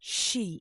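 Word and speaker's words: 四: Or how about the number four in Japanese? pronounced shei. It sounds eerily similar to the word for death.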